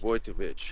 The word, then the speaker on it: Wojtowecz: butcher your last name with a W voich voitovich okay clear um vich I think because it's look any more than three syllables and you've got anything that's Easter your